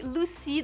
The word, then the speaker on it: Lucy: Prochain prénom pour une petite fille, c'est Lucy, donc L-U-C-Y prononcé à l'anglaise.